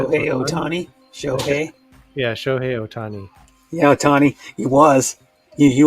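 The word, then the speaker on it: Shohei Ohtani: 2021 it was oh sh how are you pronouncing that okay okay yeah show hey otani yeah tony he was he was a good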